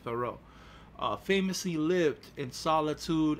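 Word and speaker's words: Thoreau: the philosopher Henry David thoral right I think that's how you say his name thoral thoro thoro I think it's thoro uh famously lived in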